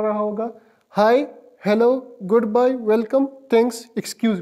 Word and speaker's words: Hallo: Haiku spell इस तरह करेंगे, HALLO, हेलो।